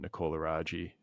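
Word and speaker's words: Nicole Aragi: sent a couple of chapters to your agent Nicola Raji am I pronouncing that right yep and Nicole's response and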